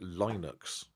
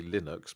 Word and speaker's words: Linux: There was because there was a big thing um where people were actually It was obviously supposed to rhyme with his name.